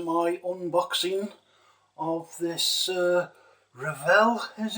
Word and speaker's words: Revell: and welcome to my unboxing of this uh revel as it's pronounced technic uh dakar rc truck um i